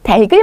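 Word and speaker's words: 닭을: 뒤에 꽃만 옮긴다 그래서 달기 참 맛있었어요 달글 먹고 싶지 않으세요 이렇게 얘기를 하셔야 돼요 달글 이렇게 하셔야 됩니다 바로 연음 시키셔서 그다음에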